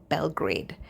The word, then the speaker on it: Belgrade: They're also recruiting in Serbia, Belgrade. That's how you say it, Belgrade, in Serbia.